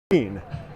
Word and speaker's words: Gruene: What do they call it? Green. And you're like, guys, you know how to spell green, it's Green. They're like, yeah, no, but we don't really know why we call this town Grune, green, even though it looks like Gruene.